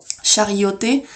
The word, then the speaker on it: charioté: Charioté, le contenu d'une chariot, ça se prononce en CH, charioté, alors que charisme, qui